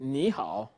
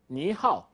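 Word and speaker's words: 你好: is a turtle so when you say me how you should pronounce it niihau let's consider that for any reason you say something like me how it gives us this one niihau means hello but Niihau doesn't mean hello and if you want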